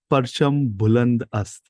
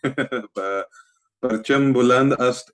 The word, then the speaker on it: Parcham Buland Ast: So tell me about how, and give me a second when I say this, Parcham Buland Ast.